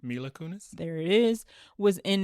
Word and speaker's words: Mila Kunis: Mila Kunis.